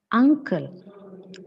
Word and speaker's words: uncle: the correct pronunciation the correct pronunciation is Uncle okay it is a the first sound is a second one is this sound nasal sound sound then we have